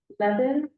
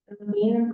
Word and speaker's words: Levin: Next is going to be Adina Levin. Levine, sorry if I pronounced your name incorrectly. Levine. Yes, that was good. The first time, Adina Levin, Menlo Park